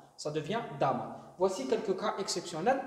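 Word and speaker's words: дома: Dom, qui est une maison, le pluriel, c'est pas domi, c'est doma, dama. La prononciation change aussi. Donc le O va se prononcer comme un A. Ça devient dama.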